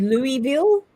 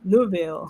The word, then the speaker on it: Louisville: Barrel they goes no he said that's not how you say it and I said it's not he go no ma'am and he kept getting me still don't know to this day if I say it correctly but it was I I I mimic him because it was like Lille Lille so not Louis or Louis it was Lou Louisville but um but yeah